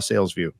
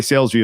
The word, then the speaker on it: Salesvue: By the way, Salesvue is spelled funny-ish, right? Well, it's SALES. V is in Victor, U is an umbrella, E is an elephant. VUE, not VIEW.